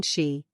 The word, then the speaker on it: shei: associated with the spleen shei pronounced like she which connects the whole